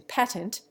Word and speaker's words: patent: Curiously enough, it is displaced in patent by the true flat A. The English rhyme the first syllable of the word with rate. In America, it always rhymes with rat.